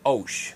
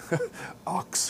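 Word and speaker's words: Ochs: Her name is Nola Osh. It's O-C-H-S, Osh. She was actually on the Today Show earlier this week, and they pronounced her name wrong. Ox or something like that.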